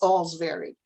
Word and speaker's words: Olsvary: children fifth graders miss all's very they didn't know how to say it o-l-s-v-a-r-y so i told them it was it was pronounced as if you were saying all's very well thank you the next day i